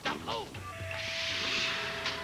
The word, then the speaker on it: doubloon: No, you're saying it wrong. It's Bluebeard Baboon's curse of the double doubloon.